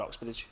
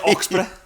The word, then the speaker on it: Oxborough: Right, for ages I called him David Oxbridge. And it wasn't his name. It's Oxborough.